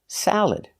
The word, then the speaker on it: salad: correct example salad again the second syllable is not stressed so you have three choices you can use the schah salad uhuh sound salad you can use the a sound like eggs salad salad or the I sound like milk and this salad salad just make sure you put the stress on the first syllable salad garbage example garbage is